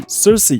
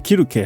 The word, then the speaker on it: Circe: 琪琪还换上了多套服装，搭配上歌曲 Cersei，这是英语发音，我还是念 Kiruke 好了，也就是科尔克。